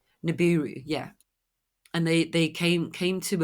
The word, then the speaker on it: Nibiru: Is it Nebula? I don't know if I pronounced that correctly. And they Nibiru. Nibiru, yeah, and they came to Earth, and basically